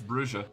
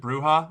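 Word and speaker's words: Brujah: We got an official source on it that it's Brua.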